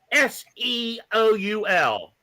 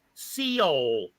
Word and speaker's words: Seoul: there was the word s-e-o-u-l and he could not pronounce it he how do you pronounce this he goes Seal Seal it's Seoul South Korea you